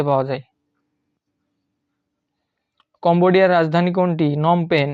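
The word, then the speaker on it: Phnom Penh: যায় কম্বোডিয়ার রাজধানী কোনটি নম পেন এই যে বানানটা দেখতে হবে নম এন ও এম তার আগে পিএইচ আছে আর পেন পেনের পরে এইচ আছে নম পেন কম্বোডিয়ার রাজধানীর নম পেন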